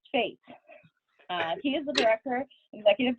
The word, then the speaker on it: Fete: yes we are related yes it is pronounced fate he is the director